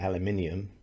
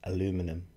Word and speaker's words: aluminium: In the England we call it agoraphobia, just like aluminium, and we call it aluminium, you call it aluminum.